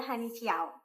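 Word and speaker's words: Hanyu Qiao: Itu tulisannya pakai Hanyu pakai kiwu, tapi bacanya Honey Chiao.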